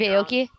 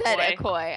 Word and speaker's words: Aoki: I watched the Steve Aoki one and I didn't get one ad the entire time.